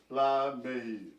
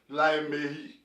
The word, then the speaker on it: Laimehi: If you belong to any of these lineages, don't pronounce it in a way that nobody understands what you're saying. You have to say it properly. Laimehi. I mean, don't just say Lamehi. Laimehi.